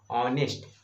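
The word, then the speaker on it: honest: बट इसका अगर हम इसका उच्चारण करेंगे, इसका मेरा साउंड अगर हम क्रिएट करेंगे, तो यहाँ मेरा क्या होगा, मेरा वॉवेल मेरा आ रहा है, मेरे क्या करेंगे, ऑनेस्ट ओ पर है ना, ओ तो ओ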